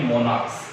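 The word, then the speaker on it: monarchs: सकते हैं मोनाक यानी मोनाक्स। तो यहाँ च का उच्चारण नहीं कर रहा है, यहाँ पर क का उच्चारण कर रहा है।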